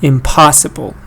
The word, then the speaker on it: impossible: And when you add im, you get another unstressed syllable. Da da da da.